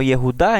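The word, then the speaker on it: יהודה: tribu de judá y en hebreo junta se pronuncia y es justa por tanto esa región se conoce como yehuda en hebreo y el traducirlo en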